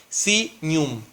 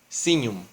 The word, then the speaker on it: signum: Leyéndolo en latín, que es otro idioma, otra lengua, dice, o se lee, se dice, se pronuncia como signum, signum, ¿sí?